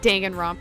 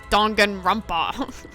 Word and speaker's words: Danganronpa: It's not Danganronpa, it's Danganronpa.